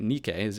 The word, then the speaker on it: Nikkei: Nikkei is how we say that one, apparently.